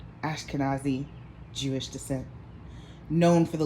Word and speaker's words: Ashkenazi: Well, Goldman Sachs, okay, is a family of Ashkenazi, I said it wrong. Ashkenazi Jewish descent, known for the leading investment bank, Goldman Sachs.